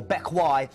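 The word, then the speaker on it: Bequia: the first one or Beck as it's pronounced it doesn't doesn't read like it looks uh this is still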